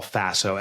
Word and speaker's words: FASO: was deploying this model I call Faso Faso rhymes with lasso but stands for fit